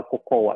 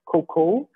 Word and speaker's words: cocoa: Ganun ang ka-pronounce daw ng hindi daw cocoa. It's cocoa.